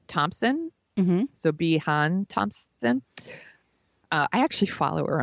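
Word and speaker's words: Siobhan: Then actress, I think her name is pronounced Sobeehan Thompson. Mm-hmm. Sobeehan Thompson.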